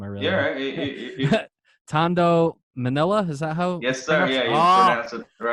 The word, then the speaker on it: Tondo: taught I'm gonna butcher this name I read Tondo Manila is that hope yes got it right